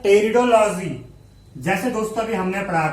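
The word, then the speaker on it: Pteridology: बात करते हैं टेरिडोलॉजी, जैसे दोस्तों अभी हमने पढ़ा था ब्रायोलॉजी, सेम उसी प्रकार टेरिडोलॉजी होता है, टी इसमें साइलेंट रहता है।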